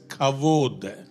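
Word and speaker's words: כבוד: Hebrew word kabod. Write it down. எபிரேய Kabod. வார்த்தை கபோத் என்ற அர்த்தம். Kabod means கபோத் என்றால் heavy or weighty. ஒரு கனமான ஒரு காரியம், ஒரு பொருள். In Hebrew it is pronounced as kavod.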